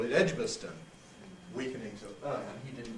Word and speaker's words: Edgbaston: So, with these proper names, there's often a difference between a local and a national pronunciation, which again concerns strong and weak vowels.